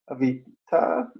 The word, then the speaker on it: Avita: Oh, and Trace is saying, she says, "Hello, Avita," pronounced with an ah at the It's got end.